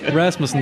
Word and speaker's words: Rasmussen: Is that how you pronounce it? That's fine. Yeah, that's fine. Rasmussen, that's so fine.